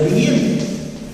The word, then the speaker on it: Legendre: Se escribe Legendre, se pronuncia Legendre.